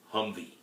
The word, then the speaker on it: HMMWV: number four military acronyms hmmwv pronounced humvee and question number five